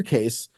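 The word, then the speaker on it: Cayce: And the reason is that Edgar Case, or Casey, however you want to pronounce it, who is the founder of the New Age religion, he was a psychic.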